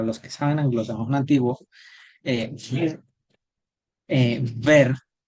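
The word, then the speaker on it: wer: Y ver, anglosajón antiguo, para los que saben anglosajón antiguo, ver, ver, la W se pronuncia como v, igual que actualmente en el alemán, ver, ¿qué significa?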